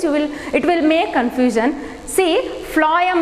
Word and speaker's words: phloem: See, phloem means you have to just remember like this, phloem. How you are pronouncing phloem? So that phloem for food, same pronunciation almost it is.